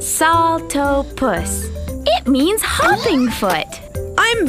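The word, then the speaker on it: Saltopus: was my bad hyah I am Salta puss that's pronounced salto puss it means hopping foot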